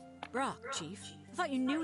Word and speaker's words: Brok: ahead say my name it's pork of course no it isn't Brock Chief I thought you